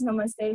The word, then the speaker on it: Namaste: and the other is Namaste the t is pronounced as the eight in the e in the eight so the same sound goes for it namaste language has its